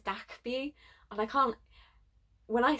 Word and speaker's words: DKB: thankful that kb so i keep calling dkb that's my british brain it's dak b and i can't when